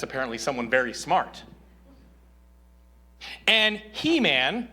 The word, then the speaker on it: Heman: "And He-Man," which I think it's pronounced Heman, but it's really just fun to say He-Man when you're preaching.